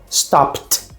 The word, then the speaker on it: stopped: Ou seja, o E você não pronuncia e o D assume esse som de T. Então, ó, work, worked, stop, stopped, laugh, laughed.